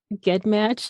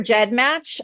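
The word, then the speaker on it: GEDmatch: think I call it get match you know what a lot of people do there's actually two except pronunciations so you're not totally wrong okay I prefer Jed match I've been friends with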